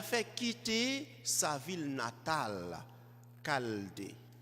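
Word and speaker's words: Chaldée: quitter sa ville natale caldé ça s'écrit avec un ch c'est cald conformément au récit de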